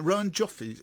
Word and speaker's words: Rowan Joffe: Rowan Joffe's.